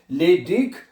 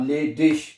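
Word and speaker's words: ledig: ठीक है, ये मैंने आपको पहले भी बताया है कि अगर लफ्ज के आखिर में आई जी आए, जैसे कि आई जी आ रहा है, ठीक है, लेडिक, वो जी गाफ और शीन दोनों की आवाज आप प्रोनाउंस कर सकते हैं। ठीक है, लेडिक और लेडिश।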